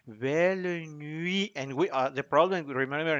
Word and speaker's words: nuit: So it is belle nuit, nuit, nuit, oh nuit d'amour. La u, the other u that doesn't go that far, but it is a different u.